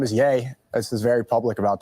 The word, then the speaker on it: Ye: That is Yay.